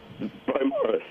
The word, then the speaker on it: Beaumaris: Beaumaris.